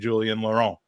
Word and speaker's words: Julien Laurent: It's Gabby Marcotti and Julien Laurent. Welcome to the Gooners Pod. Did I pronounce that okay, Julien?